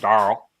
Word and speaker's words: Daryl: watch him for is Daryl or if you're from the south darl where Daryl's one syllable somehow Trev my name is two syllables but Daryl is one darl all right all right